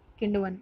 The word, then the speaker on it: किण्वन: के कारण होती है, किण्वन नहीं किण्वन, किण्वन, दिस इज़ राइट प्रोनाउंसिएशन, इसको आप सही कीजिएगा, किंगवन की जगह किंडवन है, तो ये आपका सही आंसर है किंडवन, ओके।